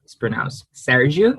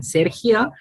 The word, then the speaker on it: Sergio: My name is pronounced Sergio in Portuguese and Sergio in Castellano and in Spanish.